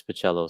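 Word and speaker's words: Bachalo: I got an admonishment on a video once insisting it was Bacalo. That's the way I thought it was too, but I will any way you want to pronounce it. I interviewed Scott Lobdell, and we were talking about Generation X, and he says Chris Bacello. So I'm assuming if Scott Lobdell knows, then yeah.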